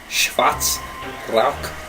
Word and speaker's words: Schwarz Rauch: Nate, and that's how you say it. Schwarz Rauch Stout.